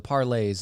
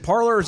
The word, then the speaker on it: parlay: is that is it parlors or parlays technically it's parlay but it's spelled parlor so everybody says parlor because we're american and we screw you screw you phonics we've had this conversation